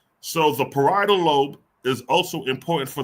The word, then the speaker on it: Parietal: Now look, let's go into the partial lobe. I said partial lobe. Let me see how to pronounce this properly so I don't be running around here saying the wrong thing. How you pronounce it? Parietal.